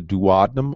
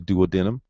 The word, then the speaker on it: duodenum: feet is broken into three different segments the duodenum also known as the duodenum the jejunum and the ilium the duodenum or